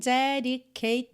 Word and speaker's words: dedicate: Dedicate termina em T, quer dizer, na verdade termina em E, mas o E não é pronunciado, né? Então termina em som de T.